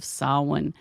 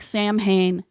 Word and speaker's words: Samhain: about the holiday of salwan which most people know of as Halloween and no I know it's it's spelled like Sam Hayne it is not Sam Hayne so what are you